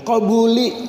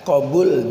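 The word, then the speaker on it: قبول: Hai harapan dan permohonan cuman ada yang balik bacanya kobuli habis doa kembuli keluar Hai qobul diterima ya kalau kembalinya keluar ya dua-duanya itu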